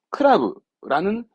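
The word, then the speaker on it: 倶楽部: 보면 이것이 이제 클럽, 크라브라는 발음을 의미 없이 갖다 붙여놓은 겁니다.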